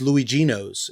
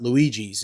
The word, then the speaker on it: Luigino's: Because it's Luigino's. It's not Luigi's. It's Luigino's.